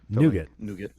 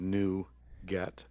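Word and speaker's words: NuGet: is it you nougat they all say it like the candy bar nougat okay yeah even though we both know it means new get okay so where where's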